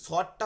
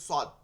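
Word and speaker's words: صاد: এরপরে শিন হচ্ছে একদমই বিপরীত ঠিক আছে শিন সদটা হচ্ছে সিনের মাখরাজ কিন্তু শিন যেটা আছে তিন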